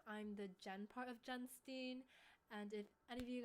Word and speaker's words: Jenstine: My full name is, so it's pronounced Jenstine. I know a lot of people think it's Jenstine, but that is why it's called Jenstine.